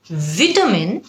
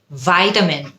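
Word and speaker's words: vitamin: American উচ্চারণ একটু ভিন্ন ভিটামিন নাকি ভাইটামিন ভিটামিন হলো ব্রিটিশ উচ্চারণ you need to take some ভিটামিন C British ভাইটামিন you need to take some ভাইটামিন সি তখন হয়ে যায় ওটা আমেরিকান খেয়াল করে দেখবেন দুটোই কিন্তু কারেক্ট কিন্তু আপনি যেই অ্যাকশনটা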